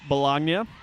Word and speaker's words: Balogna: last name beforehand and she said it rhymes with lasagna so if you ever see her out on campus just know it is bologna as price on the